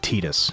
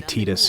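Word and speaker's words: Tidus: I have your autograph of course also I pronounce it tetus and that's because they say tetus in the deia games and also I grew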